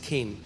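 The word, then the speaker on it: חן: इस सी एच ई एन बट it's pronounce S केन।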